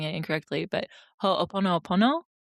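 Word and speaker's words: Hoʻoponopono: If anyone who's listening, if you're familiar with a Hawaiian practice called I might be pronouncing it incorrectly, but ho pono pono.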